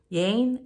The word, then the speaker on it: Yein: us and love becomes possible my name is Jane to be exact my name is Jane Jane is spelled Y ein but pronounced like Jane with